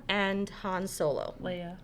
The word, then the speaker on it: Leia: He is, Layla and Han Solo. Leia. Leia.